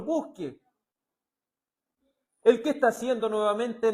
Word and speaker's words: busque: Se fija, el profeta le sugiere al Señor, aunque aquí no dice con acento en la E, busqué, no dice que él buscó. Le dice, Señor, busque.